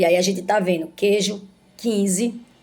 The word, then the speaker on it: queijo: aqui embaixo queijo guerra Você tá vendo que o queijo é q u e o guerra que Geo é quando a gente diz que Ju Guerra Não tem nenhuma pronúncia da letra U portanto essas palavras aqui